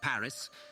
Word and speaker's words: Paris: in English it's pronounced Paris but everyone else pronounces it without the S sound like the French do but with venetsia everyone